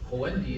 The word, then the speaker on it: Khuwaylid: Khuwaylid ibn Yazid is the Arabic pronunciation of his name, who was given the